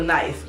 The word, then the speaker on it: knife: For example, knife. Like, why is it spelled with a K? It's N-I-F-E. Take the K out, make it knife.